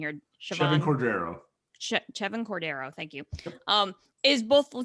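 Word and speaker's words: Chevan Cordeiro: But the only thing that kind of caught my attention was the fact that Hawaii quarterback, and help me with pronunciation here, Chevin Cordero. Chevin Cordero, thank you, is both the team's leading passer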